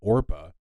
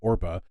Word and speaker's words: Orpah: Her given name is actually Orpah, not Oprah. And Orpah is a biblical character from the book of Ruth in the Bible. People couldn't really pronounce her name, Orpah, kept mixing around the letters.